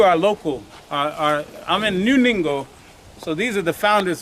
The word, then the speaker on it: Ningo: This is not Prom Prom, this is New Ningo. But across the street is Prom Prom and going back that way. But we're actually in New Ningo, N-I-N-G-O. Rhymes with bingo with the N.